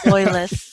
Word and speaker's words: Loyless: I don't even know if I pronounce it correctly. It's Loyless.